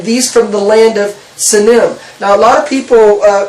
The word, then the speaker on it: Sinim: Okay, and so in Isaiah, in chapter 49, it talks about the land of, how do you pronounce it? Sinim.